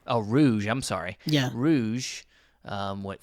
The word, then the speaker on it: Rouge: Rogue from what? It's pronounced Rouge. Oh, Rouge.